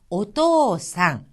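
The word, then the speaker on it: おとうさん: 오토 상 옷도 사 자 여기에서 는요 토란은 5 모음을 간음 다음에 히라가나 5가 이어졌습니다 이렇게 옴 옴 다음에 우가 오면은 5일장 으로서 길게 발음이 나서 어떠 상 한박자 만큼 키워지는 겁니다 옷도 상 이것은 아버지 라는 뜻입니다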